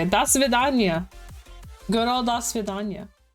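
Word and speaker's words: до свидания: Das Svidanya! That is exactly how you say it. Das Svidanya.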